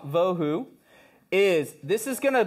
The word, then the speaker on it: bohu: put that up here the reason why I like to to pronounce that VA vohu is this is going